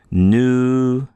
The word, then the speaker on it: nu: The nu is pronounced like the English N, and sometimes this can